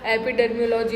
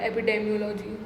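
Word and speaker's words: epidemiology: एपिडेमियोलॉजी होती है भाई। मैंने एपिडर्मियोलॉजी बोला है, क्या बोला? डर्मा एपिडर्मियोलॉजी होती है पहली बार, एपिडेमियोलॉजी।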